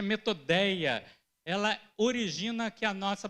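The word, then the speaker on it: μεθοδεία: Gente, no original grego, koiné, astutas, ela tem uma palavra chamada, uma palavra que se pronuncia metodeia.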